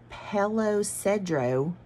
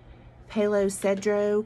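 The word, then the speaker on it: Palo Cedro: he was living in hello cedro i think is how you say it palo sedro california so on his 79th birthday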